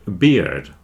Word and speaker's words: beard: has got a weird beard weird beard weird beard don't forget to pronounce the d on the end of beard otherwise you'll get confused